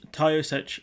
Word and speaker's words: Taoiseach: So we'll go through these, which is that the Irish Taoiseach, I think that's how you pronounce it, Michael Martin, said that spiralling back